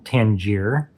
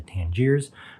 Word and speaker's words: Tangier: here, the Thomas Slim Tangier. I did notice in my uh unboxing impressions that I did uh pronounce the name of the pen wrong. It is the Tangier, not the Tangiers.